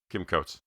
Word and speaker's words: Kim Coates: Yeah, Kim Coates.